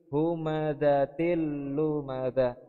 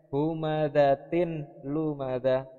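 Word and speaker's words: هُمَزَةٍ لُّمَزَةٍ: lam ya wailul likulli humazatil lumazah harusnya atau lisan aslinya humazatin lumaga tapi karena disini kasrotain bertemu dengan huruf lam maka dibaca humazatillumazah seperti Tokyo jadi cara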